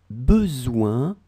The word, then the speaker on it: besoin: Tu as besoin, ouin, O-I-N, it's the sound ouin.